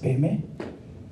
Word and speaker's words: Padma: Padma is actually the Sanskrit word, actually padma, but now it's pronounced padme.